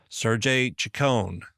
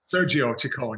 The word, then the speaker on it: Sergio Chicon: Sergey Chicone. Sergio Chicone. Yeah, Sergio.